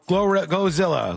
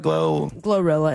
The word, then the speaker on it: GloRilla: Oh, Glowzilla. No. Glowzilla. Glorilla is correct.